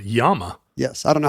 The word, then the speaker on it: llama: 3L llama in in in castian they pronounce it yam yes I don't know